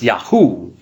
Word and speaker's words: Yahweh: Scholars have kind of back-engineered it, and they think it probably should be pronounced Yahweh. But that's a theory, okay? We don't, they didn't live 3,000 years ago to hear how the ancient Jews were pronouncing this, and there are indications even in the Bible that it might have been pronounced Yahu. It might have been Yahu or Yahoo.